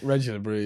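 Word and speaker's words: Régis Le Bris: Is that, have I pronounced that right? Régis Lebris. Reggie LeBrie, yeah.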